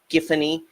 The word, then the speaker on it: Giffany: a little bit about giffany pronounced with the hard G which is correct and the they make a joke about the pronunciation but that's that's that's the giffany is the pronunciation they run with in any event he's